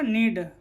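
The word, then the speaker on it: knead: पहले के आया है तो के क्या होगा, साइलेंट होगा। के एन ई ए डी क्या होगा, नीड।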